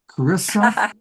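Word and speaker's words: Charissa: Cararissa Sims, spelled the H is silent.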